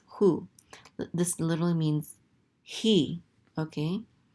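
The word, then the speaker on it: הוא: Anyways, this says u, and this aleph is silent. This is hu.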